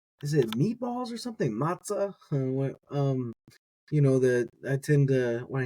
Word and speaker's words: מצא: I could make sort of a pun, like I don't have a mnemonic device and it don't matzah, right? Like matter, matzah.